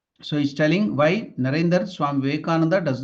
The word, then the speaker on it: Narendra: So he was calling Narendra as Narendar. So he's telling why Narendra Swami Vivekananda does not generally have these visions, but just see how great is his renunciation.